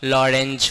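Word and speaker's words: Lorentz: नाम था उसका लॉरेंज फोर्स। टी साइलेंट होता है और कुछ नहीं था भाई।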